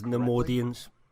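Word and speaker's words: Neimoidians: I can't pronounce that damn shit. It is Nemoidians.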